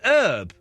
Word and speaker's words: Herb: Now, is his name Herb or Herp? It's Herb Alpert. Oh, I always get confused with the B's and the P's. So, he's American. I guess they call him They pronounce it Herb.